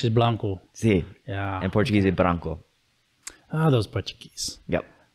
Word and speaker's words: Branco: people always ask about like because like it's b-r-a-n-c-o and so actually my parents pronounce it branco but it's actually because i'm a spanish speaker